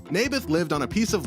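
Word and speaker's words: Naboth: that's what i said mayberff i think you're saying it wrong his name was neybeth ah bless you never mind nabith lived on a piece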